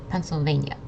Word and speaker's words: Pennsylvania: And if you say it a little quickly, then the last syllable, nia, is going to sound like nya, nya, Pennsylvania.